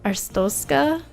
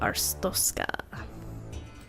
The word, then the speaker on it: Arstotzka: country which is uh arstoska I believe is how you say it so that's just a